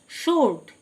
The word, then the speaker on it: sword: শোর্ড, SWORD শোর্ড মানে তরবারি, W silent.